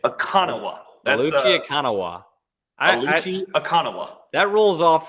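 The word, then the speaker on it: Oluchi Okananwa: It is officially, according to Duke's notes last year, Aluchi Akanawa. Okay, so the second N is gone in the pronunciation. Akanawa. Aluchi Akanawa.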